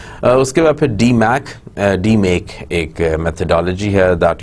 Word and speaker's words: DMAIC: give up a DMACC d make a methodology here that you are saying DMAIC so we pronounce it as D make and then what are